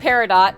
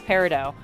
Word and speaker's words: peridot: But also, she was having a minor conniption because she's like, the T is silent. It's Peridot. And then later, and then figured out that, like, oh, actually Peridot is an accepted, like,